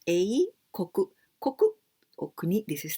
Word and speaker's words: 英国: So A, and we pronounce A, koku.